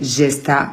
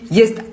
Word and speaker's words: Jesta: tout le monde m' tout le monde a toujours prononcé Gesta à alors que c'est un prénom allemand et du coup le J se prononce i donc c'est yes bref j'ai toujours repris